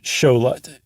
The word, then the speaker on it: Xolotl: the meshika and that's that X is a s h e in that case so the Axolotl or a sholet is named after the Aztec god Shola x-o-l-o-t-l that's right the god